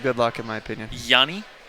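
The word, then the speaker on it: Jhonny: luck in my opinion Yanni Yanni with the silent h Johnny Peralta and David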